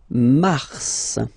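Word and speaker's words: Mars: it's an exception because normally final s is not pronounced in French okay we've got some exception and this one is one of them so Mar pronounce the final s mar mar okay then ail ail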